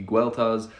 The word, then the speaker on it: Gildas: nitpick here is that I don't know why the creator is pronouncing it Gildas. I don't know where that pronunciation would come from, because the common Brittonic pronunciation would be Gueltas, the classical Latin pronunciation that he probably would have more commonly used because he was a monk would be Gildas, or like Gildas, and the modern pronunciation is like Gildas or Gildas.